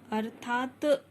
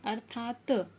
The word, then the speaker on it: अर्थात: बच्चों, जब आप इन्हें बोल के देखेंगे तो हम अर्थात नहीं बोलते, अर्थात। अर्थात यानी जो है साइलेंट हो जाता है तो त साइलेंट करने